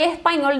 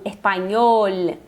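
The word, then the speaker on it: español: E não espanhol, tal. Não, cuida também sempre para fazer as letras no finalzinho das palavras. Não pronunciar espanhol, não. Espanhol, se tem o L é pronunciar o L.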